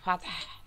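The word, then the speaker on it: فتح: Kemudian huruf h ya, h. Cara membacanya disertai keluaran nafas ya, dan keluar dari tenggorokan tengah ya. Tadi ada ya, iza za'a nasrullahi wal fath. Fath ya, ada haknya di belakangnya.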